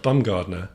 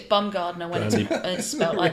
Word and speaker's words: Baumgardner: Baumgardner bound Gardener yeah I think might be pronounced bumgardner but b-a-u-m yeah okay I think it's bumgardner Randy bum gardener he's a